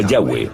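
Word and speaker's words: Yahweh: son y hw h pensamos que probablemente se pronunciaba yagüe o algo así pero ya ve solo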